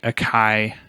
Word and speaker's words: Akai: Well, and then there's the Akai. Is that how you pronounce it? AKAI? Yeah. Akai. Akai.